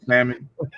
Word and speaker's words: salmon: I always say salmon. The L is silent.